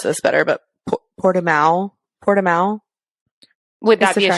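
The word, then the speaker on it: Portimão: of fact checking to do um it is pronounced portamal and it is a regular track it's not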